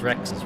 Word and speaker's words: WRX: It's like people call WRXs Rexes, right? That's how you would pronounce the word. You'd say Rex.